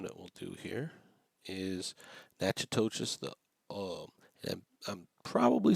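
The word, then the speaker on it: Natchitoches: we'll do here is nachas the um and I'm probably slaughtering that name so please forgive me for that but it's Nach toas Louisiana is what we're going to pronounce that as and we're going to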